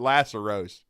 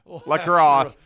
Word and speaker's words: lacrosse: in the sports business who called it Laceros, and I was like, well, I at least know how to pronounce it, lacrosse.